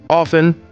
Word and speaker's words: often: Often. Here T is silent.